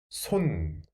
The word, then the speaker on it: 손: by yourself yes 스오 so 소 and at the sound of the final concert 손 손 팔 손 Next word Can you read it?